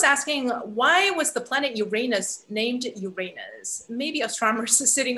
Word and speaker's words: Uranus: also soon on yes there's a reason why most of us in outreach will pronounce it uranus and that's just so that we avoid any other association with certain english words you know what's interesting